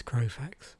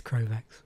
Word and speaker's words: Krovax: um because this of course is crowfax krovax yeah i'm having trouble with pronunciation this morning yeah this is krovax but i did did